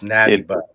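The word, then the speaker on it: Natty Boh: So it's not National Bohemian. It's Natty Bo.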